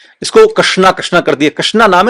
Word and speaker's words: कृष्ण: जी आप समझने का प्रयास करें जो अक्षर है जो नाम है वो है कृष्ण। सही तरीके से शुद्ध उच्चारण कृष्ण का नाम भी नहीं बोल पाते।